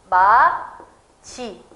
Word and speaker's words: 맏이: t 이렇게 되겠죠 그래서 사실 이 발음을 맛 이라고 발음하는 사람은 없습니다 우리 구개음화 형상에 따라서 한 단계 더 진행되서 뭐라고 하냐면 마 치 라고 발음 하게 되겠죠 그렇다면 보기에 나왔던 현상들을